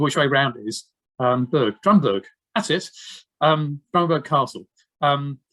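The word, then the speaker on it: Drumburgh: Well, you can call it Drumbruff because that's what it's spelled. Oh God, I can never remember which way round it is. Drumburg, that's it.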